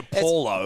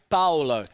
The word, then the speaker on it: Paulo: what Junior's correct pronouncing is it more like a b like a bowel like with a p but it's not like Paulo it's follow it's not Junior Paulo no it's Junior Paolo so no not Bow